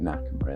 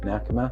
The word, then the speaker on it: Nakama: That was a really quick turnaround project, working together, get Nakama in there, get it moved across and get the game back out into players' hands after it being shuttered for a while.